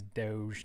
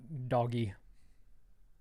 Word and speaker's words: Doge: It's actually how you pronounce it, I guess, is Doge, not doggy.